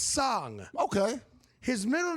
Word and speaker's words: Song: Okay, well that's S-O-N-G, but it's pronounced Song, not Song. That seems like a normal Asian name. It feels like from the Far East, right? Yeah. So Song, I want to be clear, it's not Song.